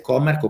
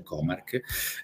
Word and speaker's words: Comarch: da lontano questa comark non sapevo neanche se si pronunciasse commerco commercio poi mi hanno corretto i colleghi minore comark è un palese sezionale e